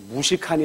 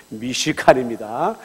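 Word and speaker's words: מִשְׁכָּן: 그런데 이 성막은 어떤 뜻을 가지고 있냐면 히브리어로 미시칸인데, 여러분들 이거 발음을 잘 하셔야 돼요. 무시칸이 아니라 미시칸입니다.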